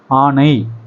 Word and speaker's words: ஆணை: யானைக்கும் ஆணைக்கும் வித்தியாசம் இருக்கு வசனத்தை வாசிக்கும் போது எப்படி வாசிக்கணும் ஆணை அப்படித்தான் வாசிக்கணும் யானைன்னு வாசித்தா என்ன அர்த்தம் யானைன்னா என்ன மிருகம் ஆணைன்னா